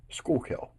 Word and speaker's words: Schuylkill: miles northwest of Center City Philadelphia name is pronounced school Hill or the locals is simply the school there